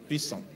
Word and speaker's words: Pishon: It said the name of the first is Pishon. Now, you are using English pronunciation. The Hebrew pronunciation. Okay, let's use your own. Pison. That is it which compassed the whole land of Havila where there is gold.